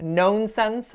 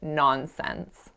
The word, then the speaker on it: nonsense: was the word nonsense so this word has a nice open ah sound but I made it sound like oh so I said known sense but I should have said nonsense the third mistake that